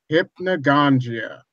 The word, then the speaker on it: hypnagogia: far and the pros and cons and hypnagogia hypnagogia there we go we go to there we got the correct pronunciation thank you very much venom there you're